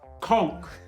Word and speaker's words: conch: First of all, it's pronounced conch.